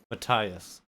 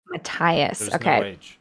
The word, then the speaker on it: Matthias: they say his name mattias mataius oh it's a silent h uh spelled with an h yeah m-a-t-t-h-i-a-s they don't say it with a t or with an a okay i should have